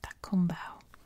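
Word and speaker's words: Cakobau: That's how it's spelled, but it's pronounced Takumbao.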